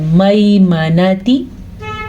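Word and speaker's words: الميمنة: آگے میم نون تا ان کو لمبا نہیں کرنا کیونکہ میم پہ بھی زبر ہے، تا پہ بھی زبر ہے اور نون پہ بھی زبر ہے. میمنتی میمنتی.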